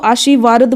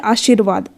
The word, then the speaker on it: आशीर्वाद: रख दें आपको कि जिसके ऊपर भी रेफर लगा होगा उस अक्षर से पहले उसका उच्चारण करना यानि आशी रवा जाएगा ठीक है आशीर्वाद कार्यशाला धर्मावतार वर्गाकार सर्पाकार